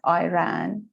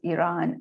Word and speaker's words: Iran: for some maybe some of our audience still pronounce the name of this country our country as iran which is for some reason has become you